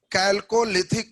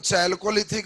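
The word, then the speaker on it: Chalcolithic: इसको हम लोग कैल्कोलिथिक कहते हैं। कभी कभी ज्यादा शुद्ध सेटर मिलेगा तो चैल्कोलिथिक भी दे देता है, प्रोनाउंसिएशन है उसने कैसे किया।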